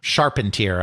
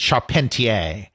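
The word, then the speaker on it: Charpentier: Al Sharpentier I suppose he pronounces his name. I want to pronounce it Sharpentier. I know Dale knows what I'm talking about. I suppose that since he's American, he probably pronounced it sharpener or something like that.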